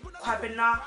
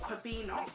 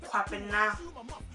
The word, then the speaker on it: Kwabena: But yeah, that's the girls, and the boys is Kwabena, not Kwabena, it's Kwabena. You know, you have to pronounce it so the name sounds beautiful, you know.